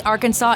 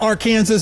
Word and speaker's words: Arkansas: to preserve State Heritage Arkansas is the French pronunciation of a native suan word meaning land of down river people or people of the south wind now coach miles is that AR Kansas is that next to